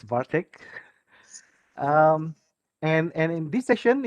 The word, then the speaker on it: Bartek: The name is pronounced as Bartek.